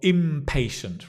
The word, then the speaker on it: impatient: Because you've got impatient, right? And it's with a M, but your right pronunciation is the same. Impatient. It's actually the same pronunciation, impatient.